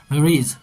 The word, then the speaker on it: ridge: उसके बाद एन old British army hill station located on अ 600 foot, इसको RIDGE इसका प्रोनाउंसिएशन होगा रिज opposite 120 mile stretch of snow capped Himalayas.